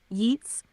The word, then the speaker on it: Yeats: right yes that's right I'm pronouncing yeets like Gates thanks for the reminder